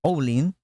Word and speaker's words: Ouling: Siempre pronuncian la última letra ellos. Es Ouling.